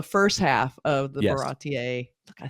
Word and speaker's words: Baratie: is only the first half of the yes, Baratier look, I said it right.